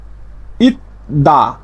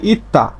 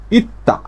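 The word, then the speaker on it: 있다: ইত দা না হয়ে এর উচ্চারণটা হবে ইত্তা, এই যে ত ধ্বনির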